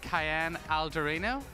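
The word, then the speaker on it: Kaiane Aldorino: I'm with the former Miss World, Kaiane Algorino. Is my pronunciation okay?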